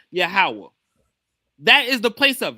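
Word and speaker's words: יהוה: Every time you see the Lord in the English Bible it's in place of the tetragramm Y HWH which is supposed to be pronounced Yahawah.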